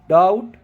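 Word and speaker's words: doubt: pronunciation करते हैं date डाउट shuttle ऐसे टाइप के वर्ड्स आते हैं जिसमें बी जो है वो टी से पहले रहता है तो उनमें हम बी को साइलेंट कर देते हैं तो बी के साइलेंट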